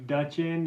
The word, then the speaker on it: Duchin: dude are you sure tell it's pronounced Duchin there's a D and then you CH i n yeah well did you